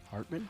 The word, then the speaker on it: Hartman: Hartman.